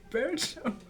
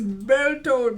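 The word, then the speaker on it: Bertholdt: Y'all keep getting this nigga's name wrong, bruh. Someone I saw on Facebook, like I follow the thingy thing, right? The channels of these time. Someone said, behold. It's Bertold, bruh.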